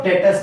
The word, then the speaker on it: debtor: उन्हीं को डेटर्स बोला जाता है। DEBTORS। बी साइलेंट है, डेटर बोलते हैं। बी is silent and we pronounce it एज डेटर।